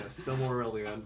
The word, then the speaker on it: Silmarillion: Yeah, Silmarillion. Like, I feel like that's the first time I figured out. Okay, that's how you pronounce it.